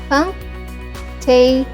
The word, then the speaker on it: cunctation: The correct pronunciation is Cunctation.